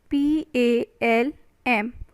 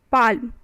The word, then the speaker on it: palm: next word is palm p-a-l-m palm palm what it is palm l is your silent so the spelling should be p a m but l is silent over here all right next is